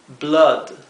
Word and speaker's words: blood: doble o la palabra Blood que significa sangre Blood Blood esto no sé debería pronunciarse Blood sin embargo esta palabra se pronuncia